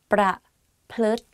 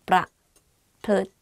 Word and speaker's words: ประพฤติ: ประพฤติ ประ and then พฤติ like L sound within the word. So it's like ประพฤติ รุนแรงViolent.